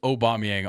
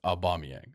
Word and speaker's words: Aubameyang: for a mispronounce I all I said was aubameyang on accident it's aubameyang I I get it he